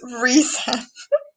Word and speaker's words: Rysand: I feel like that's what everyone else says, and I'm Oh, like, and the actor wiki says that it's pronounced Ryzen. no. See, that sounds so bad to me. Rysand sounds so much That's a very better.